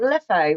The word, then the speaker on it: Leffe: Are we pronouncing it leffe or left? See? You can pronounce some it go whatever on you left, like. some go on Yeah. It's left, whatever you want to call it.